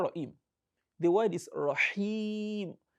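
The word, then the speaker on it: رحيم: The word is Rahim. It is ha. Rahim. As I said, you can just place your hand in front. You feel the breeze touching your palm if you are pronouncing ha correctly.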